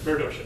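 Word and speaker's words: Meredosia: He takes and he will eventually open up a merchant store in general store in Meridocean. So, I think I'm pronouncing that correct. Yeah. Yes. Okay. Good. Meridocean.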